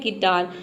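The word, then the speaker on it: guitar: example देख लेते हैं गिटार गिटार में देखिए यू के बाद आई आया है यहां पे देखिए आई दिया है ना तो इसलिए यहां पे य साइलेंट है गिटार मतलब होता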